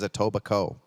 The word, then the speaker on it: Etobicoke: darren slade's checking in the k is silent so it is a tobacco well all right then